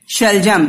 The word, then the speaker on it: शलजम: तो शलजम देखो क्या है, टर्निप आपके है ना, इंग्लिश में टर्निप बोलते हो, हिंदी में शलजम या फिर शलगम। ग और ज दोनों ही उच्चारण किया जाता है, दोनों ही सही है, ठीक है बच्चों।